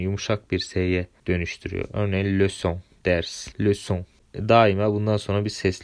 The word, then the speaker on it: leçon: Örneğin leçon, ders, leçon.